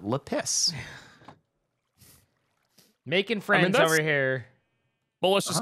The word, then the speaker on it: lapis: really long time and i got some complaints about that so i was like okay i will pronounce it differently if you want i will call it lapis making friends over here